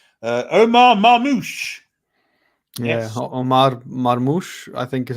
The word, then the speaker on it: Marmoush: Omar Marmoush, I think is how you say that.